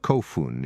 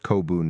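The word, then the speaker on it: 古墳: Despite the word's pronunciation as kofun in Japanese and kobun in Korean, the same two Chinese characters appear in both forms.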